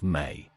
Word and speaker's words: me: The Sumerianss described objects called the mi, spelled me, pronounced as may.